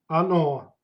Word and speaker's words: оно: Оно. Same as it. Оно. Again, stress goes to the last vowel. O. Оно.